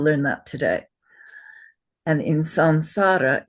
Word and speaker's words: samsara: We should not be saying samsara. We should be saying what? Sanssara. Al short vowels.